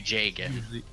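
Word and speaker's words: Jagen: I'm like pretty sure it's supposed to be Jagan. Yeah, with the Fire Emblem series, it's usually a good bet to just go Nordic.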